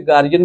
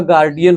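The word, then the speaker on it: guardian: और उसने उस दरबारी को अपने पुत्र का गार्डियन, चाहे इंग्लिश आप पढ़ ले, वैसे गार्जियन भी लोग कहते हैं लेकिन करेक्ट प्रोनाउंसिएशन इसका गार्डियन होता है, ठीक है, गार्डियन ऑफ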